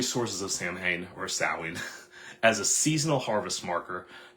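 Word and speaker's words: Samhain: Christianized version of an ancient Celtic festival called sawing, right? Sam Hayne, it looks like, but it's pronounced sawing. I'll probably pronounce it Sam Hayne because that's what I grew up hearing.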